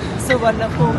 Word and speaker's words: Suvarnabhumi: Suvarnabhumi Airport.